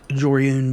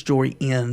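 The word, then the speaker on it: Jori En: We're going to tap that Joriun down. Not even let it try to attack. Maybe mispronouncing that. I think it's Joriin, not Joriun. Alright, well, we sat there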